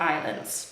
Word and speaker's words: island: The south of the country is filled with islands, czyli wypełniony, filled with islands, wypełniony wyspami. Pamiętajmy, że island, jest tam S, ale tego S się nie wymawia.